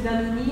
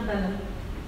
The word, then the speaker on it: Danone: a dit « mais si tu appelles ça Danone, les gens vont prononcer Danone, ça va faire sud-américain, ça va être pas de bonne qualité. » Donc c'est écrit Danone, D-A-2-N-O-N, il faut dire Danone.